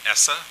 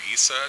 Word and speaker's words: ESSA: So some of you may have heard this term ESSA, or ESA, depending on how you want to pronounce it, and that stands for the Every Student Succeeds Act.